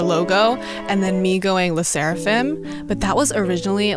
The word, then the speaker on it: LE SSERAFIM: way to say it Las seraphim Las seraphim L seraphim yeah and I say leim but a lot